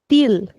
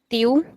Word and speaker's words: til: In Portuguese, we call it acento til. So in European Portuguese, we will say til. But can anybody try this in Brazilian Portuguese? Remembering the rule that we do not pronounce the L at the end.